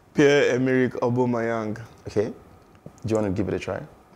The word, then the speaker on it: Pierre-Emerick: So we'll be right back with the right pronunciation. Aubameyang. Emirates. Can we start it over? Emerick Aubameyang. Aubameyang. The first name is Pierre-Emerick.